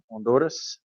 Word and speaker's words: Honduras: I'm the AIM coordinator there in Santa Rosa de Copan in Honduras. You don't sound like American. You can say, pronounce the H and say Honduras.